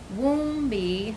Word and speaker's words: Woombie: And it's pronounced Woombie, so... like womb. Like a womb, like the environment, and it soothes the baby and comforts it.